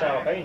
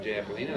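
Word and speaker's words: jalapeño: He said, that's not Japolina, that's jalapeno. He thought that was all funny, poor old country hillbilly.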